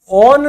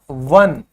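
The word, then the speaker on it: one: ठीक है, जैसे O1E, ठीक है, ओन नहीं होगा, ये क्या होगा? ये होगा वन।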